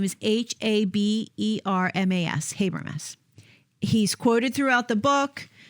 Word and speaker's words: Habermas: the historicity of the Resurrection so his name is spelled Gary g-a-r-y and the last name is h-a-b-e-r-m-a-s habermis he's quoted throughout the book um I think